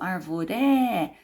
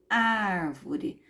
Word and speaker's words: árvore: antepenúltima sílaba forte ó eu não falo árvore nem falo arvoré eu falo árvore não é a última